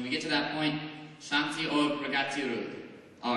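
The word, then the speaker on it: शांति: Translate to figure out how to say it. And it's Shanti or which is Hindi for peace and resistance. So when we get to that point, Shanti.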